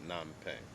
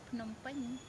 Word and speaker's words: Phnom Penh: Did I say it right, or is Yeah, it Nam Penh? they call in Cambodia they call Phnom Penh.